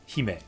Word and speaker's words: 姫: So, is me like Hime always pronounced Hime? Me or the me? Yeah. Me, Hime. Me will always be, yeah, like me. Me also means I, by the way. Hime. It's not pronounced me. It's Hime, me. But yeah, I guess it's kind of like me. Hime.